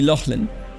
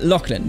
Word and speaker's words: Lachlan: lock lock right because in German again it would be Laughlin it left me confusing but Lachlan there we go it's a nice name by the way just for the record just difficult to pronounce for Germans because I think because